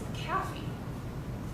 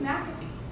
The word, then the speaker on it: McAfee: and he goes no globally they think it's a cafe and we need to tell them it's mcafee and the minute they have bothered to learn